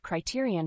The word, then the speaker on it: criterion: third word is Criterion the word Criterion has four syllables with the stress on the second syllable Criterion is a noun